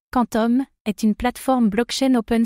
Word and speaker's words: Qtum: Cutum prononcé Quantum est une plateforme blockchain open source de type proof of stack post et un protocole de transfert de valeur.